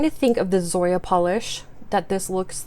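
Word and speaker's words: Pahlish: Here from Polish, a brand that is spelled P-A-H-L-I-S-H.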